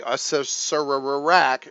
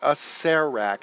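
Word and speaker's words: Acererak: CER e ra K which I would say Asura Iraq a ser Iraq is actually pronounced a ser rack so if there's hard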